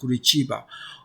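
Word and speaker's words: Curitiba: the overall economy of kurba okay it's actually pronounced kurba okay the overall economy of kurba is one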